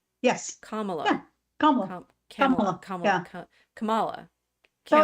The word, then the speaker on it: Kamala: say her name Kamala Camala yes Kamala yeaha Kamala so in names the the emphasis tends to be on the last syll right it means flower so our you know